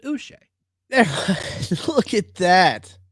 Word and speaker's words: Uche: Don't be douche, pronounce it Uche.